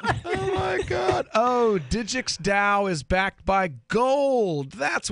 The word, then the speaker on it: DAO: Digix DAO. Digix DAO. Like Tao, like the Tao Te Ching, Taoism, the religion. Well, actually, that's spelled with a T, but yes.